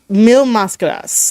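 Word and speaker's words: Mil Máscaras: uh mascadas right and it's supposed to be a thousand Mass that's how you would say it in English um it's mil mascadas like he mispronounced the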